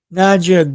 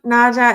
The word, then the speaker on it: Nadja: Yeah, Nadja. It's a How do you kind of interesting pronunciation with the D and the J.